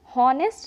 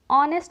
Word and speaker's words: honest: For example HONEST ऑनेस्ट, इसे हम हॉनेस्ट नहीं ऑनेस्ट पढ़ते हैं, यहाँ पे एच साइलेंट हो जाता है।